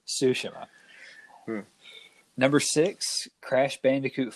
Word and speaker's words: Tsushima: say that right because everything in me wants to say is tsushima but apparently i'm going to say it wrong forever you like to say ghost of shashimi yeah it's ghost of sashimi but it is ghost of tsushima number six crash bandicoot